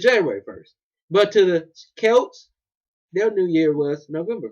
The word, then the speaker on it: Celts: They're called the Celts. Alright? I don't know why it sounds like a K when it's C, but it's Celts.